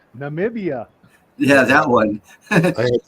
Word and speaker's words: Namibia: was that video uh he was pronouncing it nambia oh nambia yeah I heard that one as well like nomia where's that must mean Namibia yeah that one I